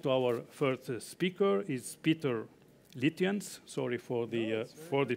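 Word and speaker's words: Pieter Litjens: mazzani you don't have to apologize because you pronounced it correctly and what nobody is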